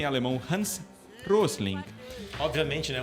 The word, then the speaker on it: Hans Rosling: Que o pronúncia em alemão Hans Rosling.